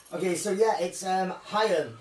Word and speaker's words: Haim: It's Haim, which is spelled H-A-I-M, like Corey Haim, it's Haim.